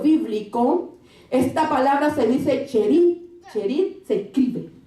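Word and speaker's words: Cherith: Entonces, en este diccionario bíblico, esta palabra se dice cherit. Cherit se escribe, y cherit significa corte.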